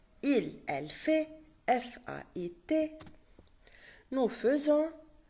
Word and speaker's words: faisons: Nous faisons, it's written F-A-I-S-O-N-S, F-A-I, but we pronounce it F. Not nous faisons, nous faisons.